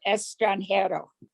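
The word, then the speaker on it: extranjero: a short spanish lesson the pronunciation is el dia del estrangero estrangero yeah my reading of spanish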